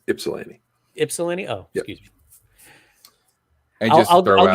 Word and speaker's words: Ypsilanti: just it it's it's it's not it's pronounced like an eye it's ipsilanti ipsalini oh excuse me